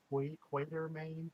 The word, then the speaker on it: Quatermain: Water, Quatermain, Water. I always thought it was Quartermain. I think Sure. that's how they pronounce it.